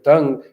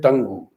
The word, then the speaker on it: tongue: Instead of pronouncing it as tongue, he pronounced it tangu.